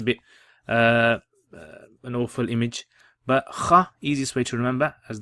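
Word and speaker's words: خ: on the top, and this is pronounced as kha. Kha with a fatha on top. Kha. And the easiest way to remember this is kha, like you're clearing phlegm, and that phlegm has come out.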